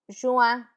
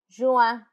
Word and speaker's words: juin: It's a bit nasal. Juin, juin.